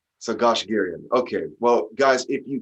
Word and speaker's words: Goshgarian: Now, I want to call you Goshgarian, but really the proper way to say it is Goshgarian. Is that how you prefer? Yeah, Goshgarian. Garian, air. Okay, Goshgarian.